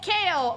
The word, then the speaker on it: Chao: SO, CHAO. My favorite thing. Okay, first of all, triangle for cuteness.